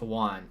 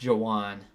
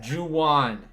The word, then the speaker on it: Juwan: By the way, his name is not pronounced Juan. It's pronounced Jawan. Juan, you're right. This is going to, okay. No, yeah, not Juan. Not Juan. Juwan.